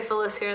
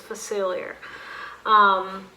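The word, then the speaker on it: Facilier: Wes phacelia facili or Phyllis here I used to say Phyllis here than I realized that is not how it is spelled so it's phacelia he is pretty bad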